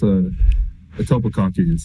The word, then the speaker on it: Etobicoke: How do you say it? Yeah, it's Etobicoke.